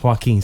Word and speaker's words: Joaquin: Outside of Joaquin and how you pronounce his name? Joaquin.